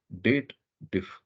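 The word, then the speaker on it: DATEDIF: People always does a wrong pronunciation about that. They believe there is a if clause is there and they should read it as dated if. But technically this formula is related to the date.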